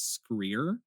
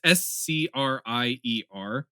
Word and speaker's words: Scrier: It's Scrier. It sounds and phonetically, how it's spelled looks like that one Icelandic yogurt.